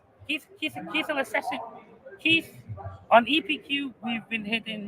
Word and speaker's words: KEATH: So and Keith is spelled KEATH. Yes. Just let's not make that mistake.